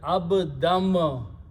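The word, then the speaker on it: عَبْدًا: So pronunciation is abdam.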